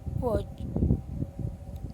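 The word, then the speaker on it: watch: First वाला है नी, lamp, com, थम, नाइफ, वॉच। तो स्टूडेंट, यहाँ पे जो भी वर्ड है उसमें कुछ ना कुछ साइलेंट वर्ड है।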